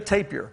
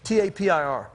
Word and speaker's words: tapir: you spell the word t-a-p-i-r oh so it's taper tape it depends on how where you're from pronouncing it i say tapir but you write paper